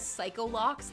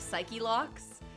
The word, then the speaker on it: Psyche-Lock: Miles mispronouncing things or messing up proper nouns is content, like with a capital C, like when he says psycholocks instead of psyche-locks.